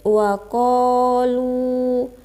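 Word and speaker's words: وَقَالُوا: Terus waqalu. Di situ ada mad asli atau mad tabi'i karena huruf qaf berharokat fathah bertemu alif dan setelahnya tidak bertemu hamzah, sukun, waqaf, dan tasdid. Cara bacanya panjang 2 harokat.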